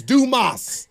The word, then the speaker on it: Dumas: getting Jason's name wrong it's Dumas yeah what I tell people do just do okay and then more in Spanish MOS okay gotcha okay I'm